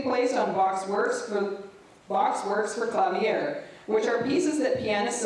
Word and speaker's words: clavier: Clavier. Thank you. The word clavier is a general term that designates any stringed keyboard instrument. In this course, the focus will be placed on Bach's works for clavier, which are pieces that pianists of our time